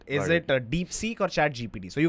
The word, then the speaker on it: DeepSeek: uh by the way how do you pronounce the second word deep seek like seek yes seek okay all right go